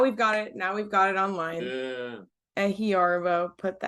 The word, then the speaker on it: Ehiorobo: Can I say I used to say Ehiorobo, but I think it's more Ehiorobo, right? That's yeah, Yeah. Ehiorobo. Yeah, Got that accent on the O.